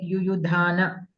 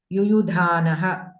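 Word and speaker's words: युयुधानः: You were pronouncing like yuyudhana, virata, like that you are pronouncing.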